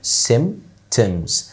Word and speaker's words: symptoms: كلمة symptoms، خد بالك ان البي هنا ما تنطقش، symptoms.